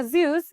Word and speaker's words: Zeus: अगला वर्ड है हमारा ज़्यूस, या इसको जूस की तरह भी प्रोनाउंस किया जा सकता है।